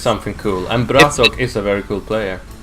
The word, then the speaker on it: Bratok: I'm doing good, and I'm really happy that you pronounced the name of Yes, Bratok correctly. No American can do that. They say, okay, it's Bratok.